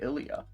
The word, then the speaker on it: Elijah: it's Elijah oh yeah spelled Elijah but she's pronouncing it Ilia IAH